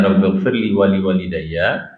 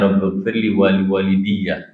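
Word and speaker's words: رب اغفر لي ولوالدي: Ada yang bacanya Rabbighfirli wa liwalidayya, ada yang bacanya Rabbighfirli wa liwalidiyya. Ya, satu fathah, satu kasroh.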